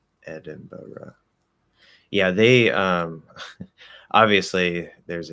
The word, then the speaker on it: Edinburgh: americans say it but i'm positive the british say it as edinboro yeah they um obviously